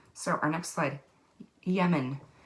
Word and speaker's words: Yemen: so our next slide yemen yaomin is also how you may pronounce it but i i heard yemen to begin with and that's what i've always said so all right our